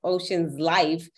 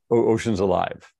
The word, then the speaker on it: Oceans Alive: I'm definitely gonna have to go check out Ocean's Life. Wait a minute, am I saying it right? Ocean's Life or Ocean's Life? Ocean's Alive. Ocean's Alive. Ocean's Alive. Yeah.